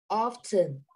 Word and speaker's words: often: your own you say often often often this is silent tea often often very good